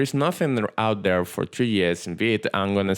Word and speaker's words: Tres: Tres is a Spanish word for tree, okay? And it's pronounced tres.